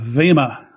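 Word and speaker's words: bema: was something called the Vema, spelled B-E-M-A, but as I was quickly informed, it's pronounced with a V, so Vema, which means judgment seat.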